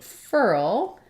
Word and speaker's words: furl: so first of all the word furl rhymes with the word girl and it has a different spelling but it has the same ER sound so this is a